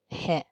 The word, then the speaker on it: へ: First, he, pronounced hie, like in helicopter.